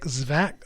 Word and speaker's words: Zwack: So that is Nick Zwack, Z-W-A-C-K. I'm assuming I'm pronouncing this name right.